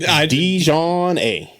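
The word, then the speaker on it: DiJonai: Dijon A. It's spelled like Dijon mustard, and then AI at the end. So Dijon A.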